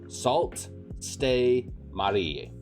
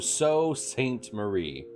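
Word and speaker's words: Sault Ste. Marie: SALT Stay Marie. Did I pronounce that right? SALT Stay Marie. Also, it's pronounced so. SALT So Marie? No, So Saint Marie.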